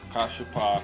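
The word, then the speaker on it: כָּשַׁף: Kashapa. Strong's H 3784. Kashaf. Kashap, right? Kashapa, that's how you pronounce each individually. If you merge the last two, you have Kashap. Kashap.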